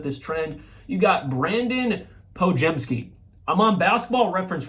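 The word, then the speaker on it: Podziemski: I was about to say Podazimski, so I would have looked like a real idiot. But it's Brandon, I've never seen it spelled with an I, but whatever, Pojemski.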